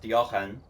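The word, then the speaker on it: Deogen: that are impossible to meet basically next up Dien technically pronounced Dien it will always know where you are it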